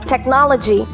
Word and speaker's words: technology: do with what right technology technology and stress point as our second syllable technology and our fourteenth